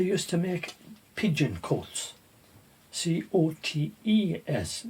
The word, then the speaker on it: cotes: C-O-T-E-S, not C-O-A-T-S. They used to make pigeon cotes, or some people pronounce it cots, pigeon cots.